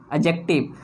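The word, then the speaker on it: adjective: एडजेक्टिव। तो हमेशा याद रखें कि ए और जे के बीच में अगर डी आ जाए तो वो डी साइलेंट हो जाता है और इसको प्रोनाउंस किया जाता है एडजेक्टिव।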